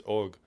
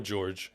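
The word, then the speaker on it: Jörg: pronounce his name correctly it's more like i can't do it it's og you know or george if you don't want to try at all george as uh or as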